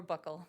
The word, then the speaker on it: buccal: Some clothing and a buccal swab Who took the, pronounce it buccal swab? or buckle.